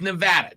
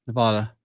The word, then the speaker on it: Nevada: ways back toback but argues how tournament is pronounced all right it's Nevada just so we're clear Nevada it's Nevada and I know that because one of my